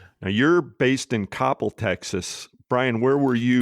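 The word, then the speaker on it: Coppell: Now you're based in Coppel, Texas, Brian. Where were you when you were based out there? Oh, I said it wrong. You know, think of Cop Hell.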